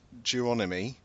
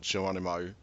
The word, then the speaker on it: Geronimi: So you've got Clyde Geronimi. I think that's how you pronounce it, not Geronimo.